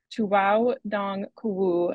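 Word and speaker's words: 拖库: sites and exfiltrating their data Library dragging is pronounced Tu dong kuu and its homophone Tu daow kuzi translates to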